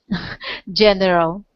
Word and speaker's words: General: being General General close just two syllables here General General General gen ah uh okay General yeah one more time General okay General yeah and we want to emphasize just the first syllable so it sounds like General General well done it's